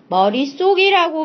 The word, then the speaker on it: 머릿속: 거 확인하실 수가 있죠 그렇다면 머리에다가 속을 더 했는데 왜 쌍시옷이 발음될까 아 여기에 사이시옷이 들어 있기 때문에 그것이 속으로 발음되었구나 이렇게 알 수 있는